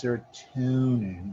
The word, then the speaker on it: serotonin: Now I call it, I pronounce it as serotonin because tone is mood. And that's what serotonin sort of affects, our mood, how aggressive